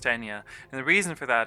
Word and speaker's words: Eithne: Her name is spelled Eithne, and it's pronounced Enya.